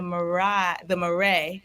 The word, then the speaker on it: Marais: Oh, I'm in the Marais. That's how you say it in France.